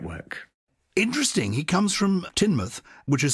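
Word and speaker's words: Teignmouth: up the great work interesting he comes from tinmouth which is spelled t-e-i-g-n month so funny it's it's actually spelled Tay in the mouth but it's pronounced tinmouth I would say Tain math and he said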